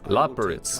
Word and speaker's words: Loporrit: As for the Loporrit's proposition, Loporrit's, that's how you say it.